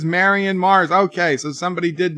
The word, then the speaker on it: Marion: I said this yesterday how do you pronounce Marion you pronounce it Mary and not Mauryan and the same way you